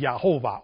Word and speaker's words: Jehovah: not the name of God the y means pronounced yahovah or Y cabalistic speaking y that's the right